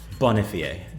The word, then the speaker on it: Bonifier: do you say it bond Fe a fun remember pretentious French all right I can